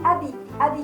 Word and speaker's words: habit: かわいいアビと言いますね。フランス語は H と T の発音はしません。